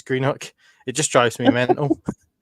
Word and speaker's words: Greenock: But Greenock, that's the way it's spelt.